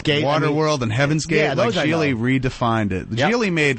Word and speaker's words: Gigli: It's called Geely. How do you spell that?